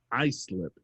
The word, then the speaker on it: Islip: writes in she's like you were right it's pronounced i slip she was saying that